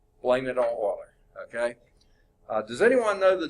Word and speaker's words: Euler: Leonard Euler is how you pronounce his name.